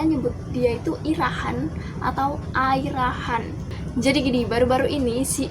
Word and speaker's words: Ira Khan: kalau misalkan nyebut namanya dia itu bukan irahan yang bener itu adalah air rahan jadi di pronounce itu air Khan dan kalau kalian masih